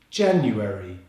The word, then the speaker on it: January: January, with the stress on the first syllable.